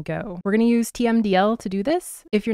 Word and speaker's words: TMDL: both by the way I heard somebody pronounced this timle instead of tmdl the other day and I kind of like that so I'm going to